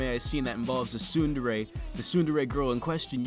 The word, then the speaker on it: tsundere: Tsundere, pronounced tsundere, is a Japanese term for a character developmental